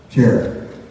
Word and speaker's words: Cherith: I think I'm pronouncing it right, David. Cherith? Cherith.